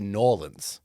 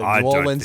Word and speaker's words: New Orleans: real people from there say Norlands. Norlands. But I'm not authentic enough to get away with that, so New Orleans is what it is. And I will be saying New Orleans.